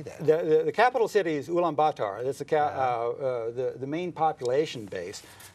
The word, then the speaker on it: Ulaanbaatar: The capital city is Ulaanbaatar.